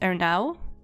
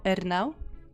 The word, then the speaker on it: Ernaux: I don't know and you don't pronounce the X so it's just R now or ER now any I don't know